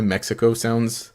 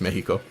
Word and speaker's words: Mexico: In Spanish, uh if you see the letter X, it makes an H sound. So that's why Mexico sounds weird to me